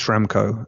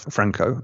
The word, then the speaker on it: Schramko: So it's Schramko and not Franco.